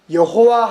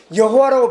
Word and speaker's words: 여호와: 그래서 특별히 우리말 성경에는 그걸 이제 복원, 추정해서 여호와 하나님 이렇게 읽습니다. 근데 원래 여호와라고 하는 건 약간 영어식에서 번역된 편이거든요.